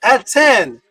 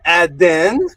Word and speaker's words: Aten: See, it's Aten. ATN. See the T? ATN. Not Aden. It's Aten.